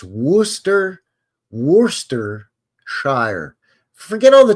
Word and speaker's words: Worcester: sh sauce yeah yeah Worster the Earl of wster it's a soft R you say the r but you don't say warer you say wer wor it's a soft It's